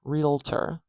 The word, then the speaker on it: realtor: say it another way realtor realtor we starting with the r going on with the E and then something interesting happens here instead of the O and the T being together realter a little schah sound